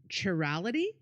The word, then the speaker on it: chirality: Chirality? Chira. Yeah, chirality. Chirality. Thank you. I don't know what it means though, but I know chirality is how you say it.